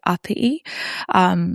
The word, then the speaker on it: Apii: The proper way to say my first name is Apii. It's Cook Island and it means school in English.